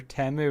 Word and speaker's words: Temu: But I keep getting parcels from Temu, which is Temu or Temu, whatever you call it.